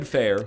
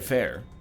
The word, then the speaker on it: Fehr: really funny either way Oded Fehr plays as probably pronounced fear so I apologize he